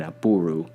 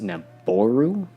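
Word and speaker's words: Nabooru: actually a garad of woman in here named naburu which I just learned is pronounced naboru which I don't particularly like as much but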